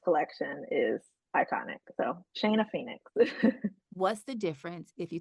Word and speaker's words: Phenix: Phoenix is spelled Phenix.